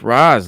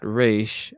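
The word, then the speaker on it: Ra's: And yes, that is Raz and not Raish. The actual Arabic pronunciation is Raz, R-A-Z.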